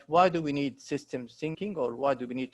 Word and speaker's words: systems thinking: to emphasize is that it is called systems thinking and not system thinking, right? Most people actually, you know, don't mention the S or pronounce the S, but it is actually about systems thinking, not just system thinking.